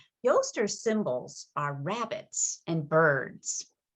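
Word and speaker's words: Oestre: o e s t r e and is pronounced yoster yoster symbols are rabbits and birds ostara the goddess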